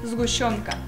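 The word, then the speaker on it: сгущёнка: How do you pronounce it? Zgushonka.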